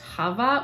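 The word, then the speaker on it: Chava: think it's actually pronounced Hava which I can't really do but it's like the Jewish pronunciation it has the strong throaty sound to it and then we have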